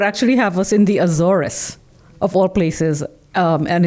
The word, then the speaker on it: Azores: How did you pronounce it? Azores.